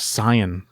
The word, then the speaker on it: Saiyan: What if in the entire movie they pronounce it correctly as Saiyan?